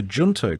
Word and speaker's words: Junto: um uh but the the junto club I think that's how you say it uh j-u-n-t-o the junto club uh founded by Benjamin Franklin in 1727.